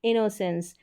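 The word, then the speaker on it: innocence: होगा इन no sense इनोसेंस यहां पर डबल एन को भी न करके प्रोनाउंस करेंगे तो आप इनो सेंस इस तरीके से कर ले इनो सेंस चलिए अब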